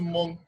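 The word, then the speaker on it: Mong: It's spelled M-O-N-G, M-O-N-G, but the G is silent. So it's pronounced Monk.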